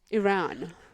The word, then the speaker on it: Iran: know what they're Someone says not Iran. It's Iran.